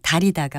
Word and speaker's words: 달이다: 이같이 약재 같은 것을 물에 불려서 우러나도록 끓이는 것을 발음나는 대로 달이다라고 쓸까요? 아니면 다 밑에 리을 받침을 써서 달이다라고 쓸까요? 이 경우에는 다 밑에 리을 받침을 쓴 달이다가 맞습니다.